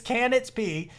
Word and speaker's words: Canitzp: If you do want to provide any kind of support to Canitzp, sorry, I keep saying your name wrong, buddy. It's Canitzp.